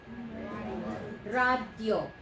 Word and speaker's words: radio: Radio. It's only a 2-syllable word.